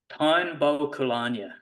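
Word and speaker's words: Táin Bó Cúailnge: kind of thing, Yeah, I don't think I'll pronounce it correctly, but the Táin Bo Cúailnge, or how do you say that? The Táin Bo Cúailnge, yeah.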